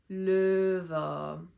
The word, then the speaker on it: Löwe: Instead of o, we say ö. Löwe.